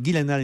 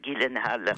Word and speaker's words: Gyllenhaal: avec Jake Gyllenhaal, car il faut prononcer Gyllenhaal et non pas Gyllenhaal comme je l'ai fait hier ou avant-hier.